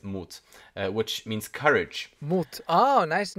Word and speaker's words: Mut: he also saw himself in his son uh moot i think it's it's spelled like i guess in english i guess you would say mutt but i think it's in german it's moot which means courage oh nice name yeah uh